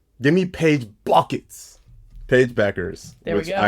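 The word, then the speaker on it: Bueckers: You know, on the same realm of mispronunciations, give me Paige Buckets. Paige Beckers.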